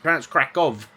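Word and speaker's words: Kraków: to go to krov I know it's spelled krackow with a W but I did ask you good people on here and few of you from Poland got back to me said no it's krackov like a V so I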